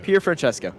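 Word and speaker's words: Pierfrancesco: doing broadcasting but uh pure friend nesco i believe that's how you say his name yes francesco yeah pierre francesco okay that's easy there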